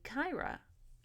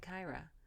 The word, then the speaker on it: Kyra: but in the book it does say that it's supposed to be Kyra. So, or I think that's right, Kyra.